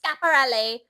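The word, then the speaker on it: Schiaparelli: And the girl fucking interrupted me, the other intern, and I said chaperone. She goes, it's actually pronounced scaparelli.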